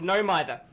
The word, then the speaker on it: No Mither: Yep, I thought it was pronounced No Mither. It's pronounced No Mither. How do I know it's pronounced No Mither? Because the devs made up the word, so I guess there it goes.